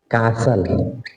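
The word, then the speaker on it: castle: next थ word है कासल कासल में टी साइलेंट रहता है कासल कासल में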